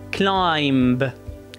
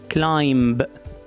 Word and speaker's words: climb: بنبلش مع الكلمة الأولى اللي هي climb. Climb. Climb. Climb. قولوا معي. Climb. Climb يعني يتسلق، يعني هون البي هو حرف ساكن بس أنا لفظته طبعا لأني أنا بلفظ اللفظ الخطأ.